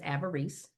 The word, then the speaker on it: avarice: The mother's name in the book is Avarice. The real pronunciation of that word is avarice.